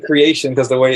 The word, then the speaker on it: Kreayshawn: remember Kreayshawn creation I think it's supposed to pronounced I've always said creation because the way it's spelled but yeah it